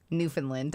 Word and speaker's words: Newfoundland: Like rhymes with understand.